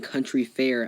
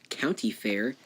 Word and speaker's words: Country Fair: people have been mispronouncing country fair as County Fair custody is not bashing him because I love his channel but dude it's country fair not County Fair but anyhow a lot